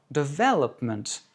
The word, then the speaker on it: development: Ou encore development, accent sur la deuxième, etc., etc.